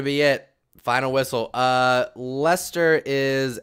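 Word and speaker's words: Leicester: yeah yeah it it it looks like it should be pronounced lychester but it's lester lester lester city uh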